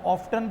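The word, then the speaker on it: often: Always, daily, ऑफन, इसको ऑफ्टन भी कहते हैं, ऑफन भी कहते हैं, दोनों प्रोनाउंसिएशन सही होते हैं इसके।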